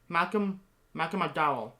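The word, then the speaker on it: Malcolm McDowell: um malcolm malcolm mcdonald mcdonald i couldn't even pronounce malcolm michael mcdowell there you go i don't know why i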